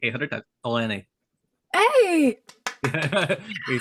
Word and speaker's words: Elenee: And for those who are listening slash watching this, make sure to, I've been pronouncing it wrong, even though we said this like 800 times. Elenee.